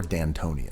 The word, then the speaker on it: D'Antoni: other hand i love mike d'antoni or d'antoni as it's supposed to be pronounced you know the ultimate